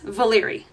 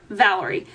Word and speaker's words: Valyrie: So as I've said before, it is Valyrie, not Valerie. A lot of people say Valerie, and I totally understand